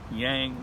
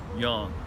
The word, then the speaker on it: yang: Oh, and by the way, it is pronounced yang, not yang. There is no ang sound in Mandarin Chinese. So please, as a favor to me, yang.